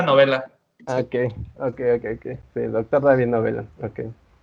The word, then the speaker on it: Novella: Se pronuncia novela.